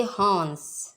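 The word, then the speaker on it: horns: प्यारे बच्चों, यहाँ आर जो है साइलेंट रहेगा, हम इसे पढ़ेंगे हॉर्न्स।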